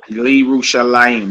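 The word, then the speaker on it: ירושלים: So the lamed is silent. How cool. You got Hema, how cool, Li Rushalayim. Okay. Hema. Li Rushalayim. Yerushalayim.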